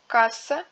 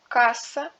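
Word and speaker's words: касса: En russe, la voyelle accentuée du mot se prononce comme une voyelle double. Kassa, maska, tiema.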